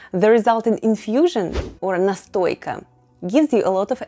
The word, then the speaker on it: настойка: a few months, the resulting infusion or НАСТОЙКА /nastoyka/ gives you a lot of energy. You know makes you STRONG LIKE BEAR 🐻 bear is МЕДВЕДЬ /myedvyet’/ in russian say it with me: НАСТОЙКА /nastoyka/ and МЕДВЕДЬ /myedvyet’/.